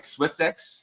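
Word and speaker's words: Swyftx: Swiftex is, how do you say it? Correct. Yeah, Swiftex, you got it right.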